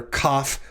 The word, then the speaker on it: kaf: talk about the letter cough with the dagash laina when it has the doggesh elena it is pronounced like the letter k in the english word king for which reason it